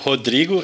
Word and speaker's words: Rodrigo: It's Rodrigo in Portuguese, but usually American call Rodrigo, but you can say in the way you want better.